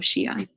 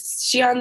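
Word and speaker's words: Xi'an: was riding bikes on the city wall of Shion is Shion the one that says x i a an yeah sorry x i a an and it's pronounced Shion cool all right so I'm going to start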